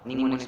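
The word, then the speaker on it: mnemonics: यहाँ पे am silent है, निमोनिक्स पढ़ेंगे इसको।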